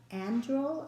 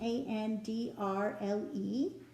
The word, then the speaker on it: Andrle: The designer was Patricia Andrle, I think is how you say her name, Andrle.